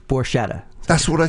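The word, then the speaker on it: Borchetta: Scott Borcetta is in the studio. Did I say that right? Close enough. It's Borcetta.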